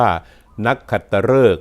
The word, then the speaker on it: นักขัตฤกษ์: จะ นำ คำ ว่า นักขัตฤกษ์ กับ วัน นักขัตฤกษ์ มา ให้ ท่าน ได้ รับ ทราบ กัน นะ ครับ คำ ว่า นัก ขัตฤกษ์ ออก เสียง ฤกษ์ นะ ครับ ฤกษ์ ครับ ก็ เป็น คำ นาม